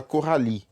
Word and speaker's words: Coralie: E aqui na Coralie tem o I, depois tem o E. Normalmente quando tem I, depois tem o E, gente, a gente não vai pronunciar esse E, tá? Aí vocês podem conceber isso meio que como uma regra lá que eu tinha falado, que normalmente as vogais no final aí das sílabas a gente não vai falar elas. Então a gente fala Coralie, tá? A gente não fala Coralie.